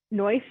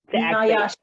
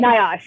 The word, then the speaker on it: NIOSH: The first question we have is, could you explain the difference between OSHA and NOISH? I don't know how to say it. NIOSH. Okay. NIOSH, yeah.